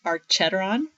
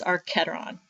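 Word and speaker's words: archenteron: looks like it's pronounced archeteron but it's our keteron okay but again arch is arc so it's the archetyron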